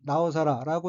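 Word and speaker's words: 尚更: 다음 어휘는 한자가 상경이고 각각 오히려 상칠경자이고 일본어로는 나오사라고 읽으며 나오사라는 부사로서 그 위에 더욱 더한층이란 뜻입니다.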